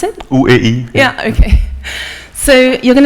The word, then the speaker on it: OEI: Is that how you pronounce it? OEI.